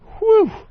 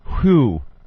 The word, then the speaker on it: whew: All it says is jet whew. Jet whew. W-H-E-W, because it rhymes with blue, JetBlue. Jet whew.